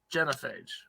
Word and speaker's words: Genophage: Genophage. That's right. You got it? Yeah, what's next? You thinking about? Next for Genophage.